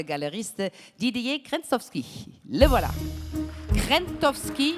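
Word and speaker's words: Krzentowski: Krentowski, sans prononcer le Z.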